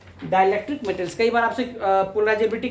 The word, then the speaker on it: chi: मैं लिख दिया हिंदी में भी काई, इसका प्रोनाउंसिएशन क्या करते हैं?